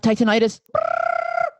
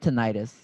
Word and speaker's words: tinnitus: I don't even know if I'm saying that word right. Am I? But Say it what? Titanitis, tinnitus, Tinnitus. is it tinnitus? I'm I think so so. sorry, it's tinnitus.